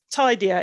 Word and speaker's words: TIDieR: the name of the checklist could you just spell it as well yeah tidier is t-i-d-i-e-r it's an acronym for something and